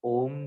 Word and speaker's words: ओम: जैसे हम सभी को पता है कि हम ओम का उच्चारण करते हैं, तो ओम जो शब्द है वो 3 अक्षरों से मिलके बना हुआ है, अ, उ और मा।